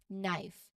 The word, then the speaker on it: knife: Again, the K in combination at the start, and the K is silent here, so it's pronounced as knife.